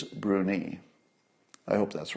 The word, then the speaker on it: Bruni: in the comments that the pronunciation is bruni I hope that's right